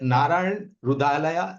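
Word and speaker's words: नारायण हृदयालय: खरीद है तो गीतू इसका नाम जो उच्चारण है वो है नारायण रुधालया लिमिटेड अच्छा तो एच एस साइलेंट राइट या एच एस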